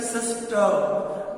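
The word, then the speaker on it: sister: ऐसे सी ए आर का, एफ ए टी एच R father, M ओ टी एच R mother, SIS किया सिस्टर, आर हम pronounce नहीं करते हैं।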